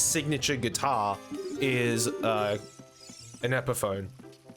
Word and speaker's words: Epiphone: a subsidiary of gibson epiphany i think correct me if i'm wrong oh it's pronounced epiphone oh more the more